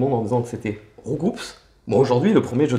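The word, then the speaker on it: Roucool: pas quoi, On ça va sera faire un Roucou. hashtag Roucou. Roucou de retour. Oh, il faut absolument pas Justice. prononcer Roucoups.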